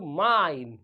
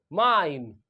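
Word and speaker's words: mine: लेकिन अगर आप इसके पीछे क्या जोड़ दें, ई जोड़ दें, तो माइन। क्या पढ़ेंगे, माइन।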